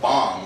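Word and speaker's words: bhang: depicts Shiva making a drink called bomb which is spelled b-h-a-n-g it was a milk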